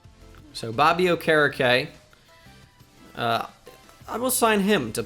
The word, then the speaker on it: Okereke: All right, so I've been told that the last name for Bobby is pronounced Okereke. So Bobby Okereke, I will sign him to play outside linebacker.